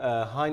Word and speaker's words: Hine: how do you say is it hind depends if you are in jarnak the village where heine is located you would say in anywhere else in the world including france would say hein so the name reflects